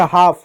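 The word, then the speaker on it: half: जैसे हाफ, हाफ में एल नहीं पड़ा, ठीक है, जैसे वाक, टॉक, टॉक।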